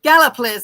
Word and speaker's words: Gallipolis: me the origin of the word Gallipolis gallopolis Gallipolis I did it Gallipolis uh Mr Stone plus